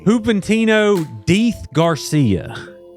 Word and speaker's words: Juventino Diz Garcia: Juventino Diz Garcia. Is that pronounced correctly?